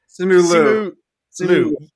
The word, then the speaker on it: Simu Liu: Simu Liu. Yes. I will be mispronouncing a ton of names today.